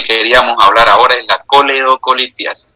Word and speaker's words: coledocolitiasis: Hablar ahora es la coleocolitiasis piense Cómo se escribe y cómo sé no es colegio así no es con la no es colectivo se llama coledoco y quiere ser cálculo